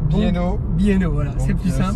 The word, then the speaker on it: B&O: Attention comment ça se prononce. B&O. B&O, voilà.